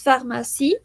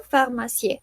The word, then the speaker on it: pharmacie: Y bueno, como es habitual, la última en francés no se pronuncia a menos que esté acentuada. Por eso decimos pharmacie y no pharmacie, porque esa E no está pronunciada, no está acentuada.